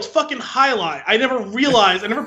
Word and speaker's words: Jai Alai: a balls like oh it's High Line I never realized I've never put two and